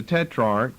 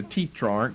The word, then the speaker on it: tetrarch: now Herod the Tetrarch, some people call it a tetrarch, that's the way it's drawn out for us in the KJV, long E, a tetrarch. I think tetrarch's a better pronunciation.